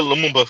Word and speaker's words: Lumumba: You said it, Lumumba.